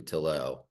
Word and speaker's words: Tillaux: kid but uh but it rhymes with elbow and so that's why